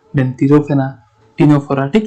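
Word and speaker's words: Ctenophora: देखो प्रोनाउंसिएशन नहीं है, सी साइलेंट होता है टीनोफोरा में, सिर्फ टी आता है, देखो तो टे से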